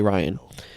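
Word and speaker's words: Rian: For example, Star Wars Episode 8, Ryan, I keep wanting to pronounce his name Ryan, but it's apparently Ryan.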